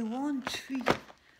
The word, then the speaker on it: Wanshui: Donc, ce sont des Wanshui. Alors, c'est du chinois, japonais, je sais plus. Donc, ça s'écrit W-A-N-S-H-U-I.